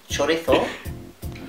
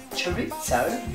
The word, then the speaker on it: chorizo: But as the Spanish say, chorizo, and as the Brits say, chorizo, and as us Aussies say, chorizo, mate.